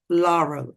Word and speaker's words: Laurel: Laurel. Okay, sorry. Yeah, like uh do you did you ever watch Laurel and Hardy?